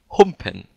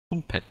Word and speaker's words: Humpen: His name is, listen closely, Humpen. Humpen. Because I was talking to Alex, aka Zvake, previously, and he was not able to pronounce that name because it's German and he's from Sweden.